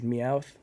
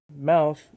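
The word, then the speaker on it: Mowth: song is called choking mouth is spelled m-o-w-t-h and because of that every time i look at it my brain says meowth like the pokemon but that's not correct and i'm sorry for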